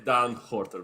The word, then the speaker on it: Daan Gorter: If you want to go all Dutch, it's Daan Gorter, but it's all good, man.